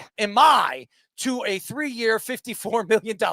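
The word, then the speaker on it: Imai: market this off season, Emi, how do you pronounce it? Emi, to a three-year, $54 million contract.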